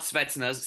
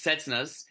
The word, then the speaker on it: Cessnas: Wong Dynasty, MTL Cessnas, not Svetsnas, Cessnas. I think I pronounced it correctly.